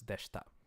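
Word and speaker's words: でした: the past tense and this is again like ashta where it's de-voicing so it's the shita okay they she ta but the E gets dropped when you're speaking kind of so it's dashed up all right so what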